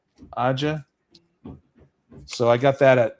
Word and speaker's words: Aja: I don't know how you pronounce Aja. Is that how you pronounce his name? Aa. Aa.